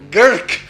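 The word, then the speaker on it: Grk: It's even hard for you to pronounce. But how about Gurk? Gurk, you got it completely right.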